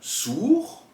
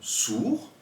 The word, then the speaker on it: sourd: Dans le mot sourd ou encore franc, comme vous l'écoutez, on ne prononce pas le D et le C.